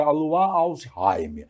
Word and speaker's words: Alzheimer: al a luí né como não se pronuncia o s fica alsheim alsheim é quase rim né mas não tem